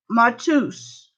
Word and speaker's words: Mateus: It's pronounced Matus.